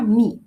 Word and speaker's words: me: Para I es mi, miren, se escribe m, pero se pronuncia me.